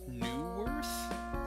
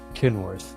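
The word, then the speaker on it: Kenworth: Newworth? Is that how you pronounce it? Kinworth.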